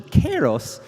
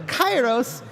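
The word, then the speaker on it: Chaos: with the Greek Heritage that this is actually pronounced closer to Kos um but we're using the ancient Greek pronunciation which is closer to chyos and so please um those people that are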